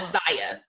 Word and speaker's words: Zaya: I didn't know how to pronounce it either. Yeah, Zaya.